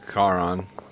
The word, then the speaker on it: Charon: In Greek mythology, Charon or Charon, Greek pronunciation, is Psychopompt, the ferryman of the Greek underworld.